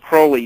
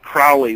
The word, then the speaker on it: Crowley: And when Crowley, his name was pronounced Crowley, not Crowley, which is very confusing.